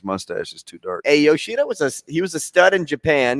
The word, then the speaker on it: Yoshida: Yoshida is how you pronounce.